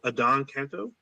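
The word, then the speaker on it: Adan Canto: So I believe his name is pronounced Adon Canto.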